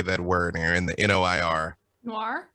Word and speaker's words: noir: It's a French word. We're all saying it wrong.